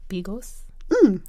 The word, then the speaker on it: bigos: First of all, you have to give us the proper pronunciation because I'm about to mess this up. Bigos?